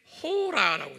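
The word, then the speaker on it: ὥρα: 한번 발음해 볼까요? 샤아, 네, 샤아. 요건 지금 아오예요. 요 시간이. 헬라말로는 여기에 호라라고 되어 있어요.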